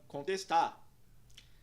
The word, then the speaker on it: contest: Na primeira palavra, contest, nós temos o som O curva, que soa como O na primeira sílaba, que é pronunciada como con. E o som E curva na segunda sílaba, que é pronunciado como E. A sílaba fica então test.